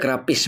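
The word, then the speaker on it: γραφαῖς: ya perhatikan di sini ada kata grapis ini bacanya grapis bahasa yunaninya Matius 21 ayat 42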